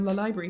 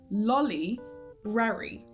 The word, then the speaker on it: Lolibrary: And here, my friends, is why it is lolibrary and not lolibrary.